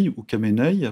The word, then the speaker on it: Khamenei: de du guide suprême ali khamenei you came nay pour ceux qui prononcent pas le cas et ou qui